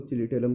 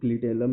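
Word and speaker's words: clitellum: ये ये चिलिटेलम का, ये मतलब इसको चिलिटेलम कहते हैं। अलग अलग लोग क्लिटेलम भी कहते हैं, आपको जो मतलब सही लगे स्पेलिंग मिला लीजिएगा।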